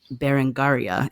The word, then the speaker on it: Berengaria: And it reminds me of the opening anecdote of your book, which is about Berengaria. Is that how you pronounce her name? That's correct.